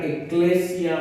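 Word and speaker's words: ἐκκλησία: La iglesia, hermanos, la palabra iglesia viene de una palabra griega que se pronuncia eclesia o eclesia y significa llamar a congregar.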